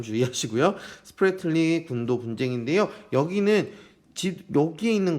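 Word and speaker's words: Spratly: 난사군도 스프레틀리 발음 주의하시고요. 스프레틀리 군도 분쟁인데요.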